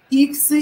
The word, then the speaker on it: иксы: Потому что, правильно Алина говорит, ударение нужно поставить на и, иксы.